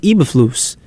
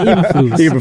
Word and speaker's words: Eberflus: I mean, it might just be the coaches too, though, because he has a defensive coach, Matt Eberflus.